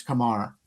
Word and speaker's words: Kumar: It's not Kumar, it's Kamar.